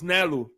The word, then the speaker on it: Galu: his name is not Galu. It's Nalu, because Oh, it's Nalu? Nalu. Apparently, the Samoan culture, the G is like an N or something like that, but it's Nalu.